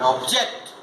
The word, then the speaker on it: object: But if the stress is shifted to the second syllable, they will start functioning as verb. For example, export and export, and object and object.